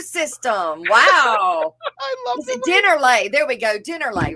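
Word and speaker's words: Dennerle: Dinnerlay. There we go. Dinnerlay, right? Yeah. That's how you say it? Dinnerlay or Dinero? Dinnerlay. No, Dinnerlay.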